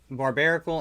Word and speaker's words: Barbaracle: Uh Barbaracle. Is that how you say it? Yep. Barbarical and Teragon.